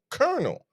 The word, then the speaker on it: colonel: And then like the and then you have colonel. How is there an L in a word? That's an R.